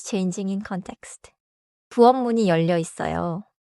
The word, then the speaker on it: 있어요: The 쌍시옷 links forward. So it is 있어요.